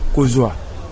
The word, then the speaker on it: kozwa: Nous avons un autre verbe, kozwa. On écrit kozwa comment? Kozwa, on écrit K-O-Z U-A. C'est ça. Oui. Kozwa, ce n'est pas comme ça. On prononce bien à lingala kozwa. On dit kozwa.